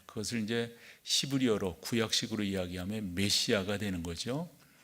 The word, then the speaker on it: 메시아: 우리가 이제 그리스도라고 하는 말, 그것을 이제 히브리어로 구약식으로 이야기하면 메시아가 되는 거죠. 메사야 이렇게 발음도 하곤 합니다만은 이 메시아, 신약으로 이야기한다면 그리스도예요.